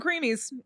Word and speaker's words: Creemees: It's also it's spelled Creemees, so it's a little less like. Ugh. But we call them creamies.